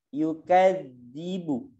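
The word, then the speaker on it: يكذب: Az yukadzibu ara'aital ladzi yukadzibu bid din. Jadi jangan sama yukadzibu bid din sama-sama da gitu ya, ini beda. Atau yukadzibu diganti lagi jadi ja, ini hati-hati. Itu za, ujung lidahnya taruh di gigi.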